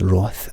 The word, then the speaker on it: wrath: i'm being pedantic but wrath is pronounced roth and sloth is pronounced sloth youngsters across the country